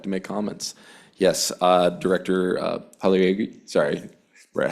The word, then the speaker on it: Pagliari: Yes, Director Pagliari, sorry, Brett, how do you pronounce it? Pagliari. Pagliari, thank you.